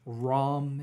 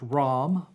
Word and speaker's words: Ram: right personal power and it's rom is ram but it's rom okay okay your affirmation